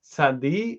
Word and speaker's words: tzadi: So we said there's two ways to pronounce the letter. There's tzadi and tzaddik.